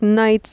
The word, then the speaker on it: knights: English and whatever, but they used to pronounce the K as like a hard K. And then That's funny. we just changed it. And then it's this interesting idea of what you said, how like knights operate in the darkness, right? And so maybe that's why the K and the GH are silent.